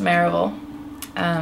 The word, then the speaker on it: Merival: Well, it's pronounced Merival.